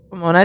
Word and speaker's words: Pomona: Another holiday, Pomona. Pomona, did I say that right? Yes, you did it.